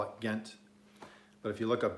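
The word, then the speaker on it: Ghent: Some say the G is silent. They call it hent. I don't know. I call it Gent.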